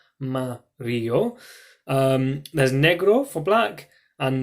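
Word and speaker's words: amarillo: you with green and Mario is probably the hardest one that's yellow so you can chunk it into three bits Oh Mario there's Negril for black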